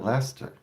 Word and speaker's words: Leicester: He called it Lester and it threw me off.